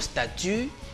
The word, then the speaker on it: statu: se trouvait les choses remarquez que le mot statut ici se prononce comme les autres mon statut et statues qui n'ont pourtant rien